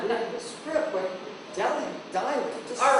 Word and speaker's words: Delhi: Billy, that's because you're not pronouncing the H. It's Delhi, not Delhi. Polly, the H is silent. It is pronounced Delhi.